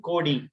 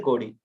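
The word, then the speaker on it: கோடி: In Tamil or Malayalam, we'll be using Kodi, right? 75 crores. It will be 75 crores. 75 Kodi. That is how we pronounce.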